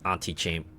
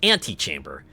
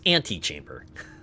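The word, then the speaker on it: antechamber: But I'm guessing the auntie chamber. I say auntie chamber. Sorry. I I've been playing vampire survivors. It's anti-chamber. This is pronounced anti-chamber.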